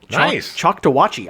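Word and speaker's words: Choctawhatchee: Chakawatchi.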